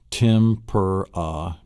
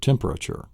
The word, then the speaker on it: temperature: Temperature. So it's temperature. It's actually 4 syllables and not 3 syllables.